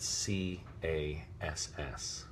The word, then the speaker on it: Cass: pronunciation, they spelled it C-A-S-S, which is hard C followed by the vowel and consonant cluster that makes the sound ass.